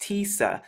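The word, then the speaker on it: تسعة: pronounced in the ancient hebrew in arabic it's pronounced tisa so there are many similarities with the numbers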